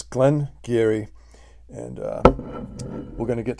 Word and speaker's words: Glen Garioch: I think the secret is out okay um Glenn Geary is how it's pronounced but if you looked at the word and announced it it looks like Glenn garyock garyach okay but it's Glenn Geary and uh we're gonna get to the review